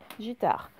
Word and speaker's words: guitare: Ensuite, guitare, gui, le son G s'écrit avec G-U, sinon ça ferait J, guitare.